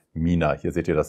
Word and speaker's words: Mina: gedacht habt übrigens ne viele Leute denken das heißt thina oder wird thina ausgesprochen weil das Packaging mäßig wo ist denn die Box hier ist das Logo und wenn das so geschrieben ist denken dann die Leute weil D eine dre davor ist wird es thina ausgesprochen oder so es heißt aber Mina hier seht ihr das